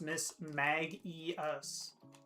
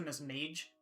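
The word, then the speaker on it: Mismagius: Also, I looked it up and apparently it's pronounced Miss Magus. Miss Maggias. Okay. Because I probably would have defaulted to Miss Mage, like a mage.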